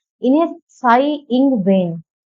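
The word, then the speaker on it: Tsai: देखिए जब ऐसे वर्ड बोले जाते हैं, जैसा त इसमें आधा बना हुआ है, लिखा हुआ है त सा ई, आप जो पढ़ेंगे इसमें त साइलेंट हो जाता है। ठीक है, तो हिंदी में भी जब हम बोलेंगे इसको साई बोलेंगे, त जो है ये आधा त है, ये साइलेंट हो जाएगा।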